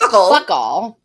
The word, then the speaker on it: FOCAL: It sounds like Fuckle. Pronounced Fuckle. In their accent.